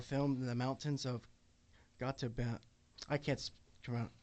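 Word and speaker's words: Gotemba: scenes that were filmed in the mountains of got to B. I can't come out. It's spelled G O T E M B A.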